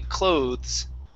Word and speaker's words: clothes: Okay, that E is silent. We say clothes.